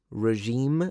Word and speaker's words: regime: I've always pronounced it regime, but I suppose regime is more correct at least according to this. Let me know how you say it.